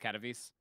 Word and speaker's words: Katowice: I've had enough of those fucking Katowice fucking Starbucks. It's pronounced Katowice.